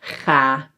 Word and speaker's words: ga: So when a syllable is open, it ends on a vowel, then the vowel is pronounced long, but we only need to write one.